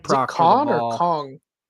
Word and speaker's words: Kon: Or Kong? Con, like Con. C, like kind of like a con, like as a con man. It's not spelled the same way, but spelled with a K.